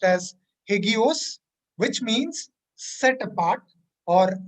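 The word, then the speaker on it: ἅγιος: In the New Testament, the word holy is pronounced as hagios, which means set apart or reverent or again sacred or worthy of veneration.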